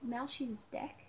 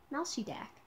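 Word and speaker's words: Melchizedek: i can't read this m e l c h i z e d e k now she deck okay i guess that's how you pronounce his name sorry i'll just show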